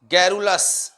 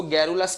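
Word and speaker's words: garrulous: topic हो जाएगा यह हो जाएगा इरिटेटिंग बताइए गैरोलस बहुत अच्छा शब्द है कहते यह बहुत बार यह क्वेश्चन होता है जो ज्यादा बात तो नहीं होता है उसको गैरोलस कहते हैं और स्पेलिंग गारूलास की कई बार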